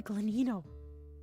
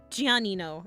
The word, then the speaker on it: Giannino: granino who is Anthony glenino all right Google it's it's giannino it's a GI not GL ow I'm silly I